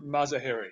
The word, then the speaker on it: Mazaheri: no but very few people do it's mazaheri oh mazahery okay the accents on the third syllable all right gotcha well hey for everybody